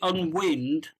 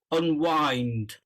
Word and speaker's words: unwind: And then you said okay, you pronounced it unwind, which I can understand, but it's actually pronounced unwind. Can you say On unwind? one, Unwind, on yeah. one, So okay, it's on like one.